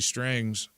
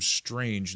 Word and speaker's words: Strang: Roblox said it has now deleted Jesse Strang's account, which by the way, I want to address that because I've pronounced the name Strange instead of Strang.